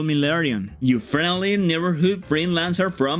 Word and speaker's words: Lerion: Ok, tendría que pronunciarlo como Lerion. Lerion? Oh, hey there! Nice to meet you. You can call me Lerion, your friendly neighborhood freelancer from Venezuela.